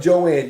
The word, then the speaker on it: Joan: It's spelled Joan, but she calls herself Joanne, Joan.